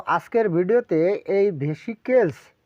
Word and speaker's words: Vesicles: লিখি আজকের বিষয়বস্তুটা কি চর্মরকটির ইংলিশ নাম হচ্ছে ভেসিককেলস উচ্চারণটা লিখে দিই তাহলে আপনাদের সুবিধা হবে ভেসি কেলস